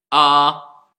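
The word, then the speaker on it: ى: Il se prononce comme la lettre alif. A.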